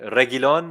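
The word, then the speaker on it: Reguilón: The Regulion. No, Regulion. Regulon. The U is silent.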